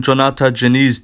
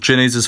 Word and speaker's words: Diniz: His name's pronounced with a J for some reason. But yeah, I am going to be picking Diniz to get the win by TKO.